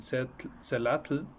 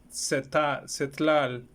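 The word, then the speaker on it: Tzeltal: Ellos practican un total de 68 lenguas indígenas, en lo que destacan el náhuatl, el maya, el celatl, celtal, perdón, se pronuncia un poco raro, es cetlal, celtal, mixteco y zapoteco.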